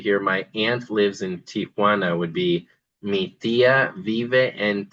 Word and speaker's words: Tijuana: A lot of people think that the city is called Tiaana. It's not actually. I think it may have used to have been called that, but it's actually Tijuana. So just TI J, not T I A J.